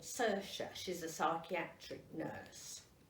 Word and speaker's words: Saoirse: Robbie lives with a girl called Saoirse. She's a psychiatric nurse. Saoirse. That's how it's pronounced. But it's spelled S-A-O-I-R-S-E.